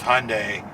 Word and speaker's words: Hyundai: a big conversation about how to actually pronounce hyundai which is closest to sunday as far as the korean pronunciation so we're going to sort of the american pronunciation so we're going with hyundai uh the hyundai ioniq